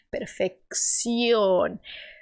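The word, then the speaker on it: perfección: efut Leia fun perf nesse CC aqui você vai fazer o som como se fosse do X do português o KS per per cuidando PR não abrir ess o como ó perfec perfeccion se você tá com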